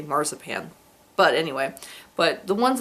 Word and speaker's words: marzipan: where they put um Mars Pan in the center or growing up I called it msip pan because that's the German pronunciation and to me it still sounds weird to say marzipan but anyway but the